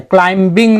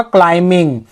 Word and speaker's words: climbing: और क्लाइंबिंग, इसमें भी ब जो है ना वो साइलेंस है, क्लाइंबिंग नहीं पढ़ेंगे ना, इसका सटीक प्रोनाउंसिएशन होगा क्लाइंबिंग। जब भी एम बी एक साथ देखेंगे ना तो वहां पे बी ऑटोमेटिक साइलेंस हो जाता है।